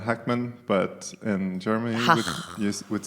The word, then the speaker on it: Hackman: watching movies unfortunately and he spelled with a K so it's pronounced Hackman but I'm like with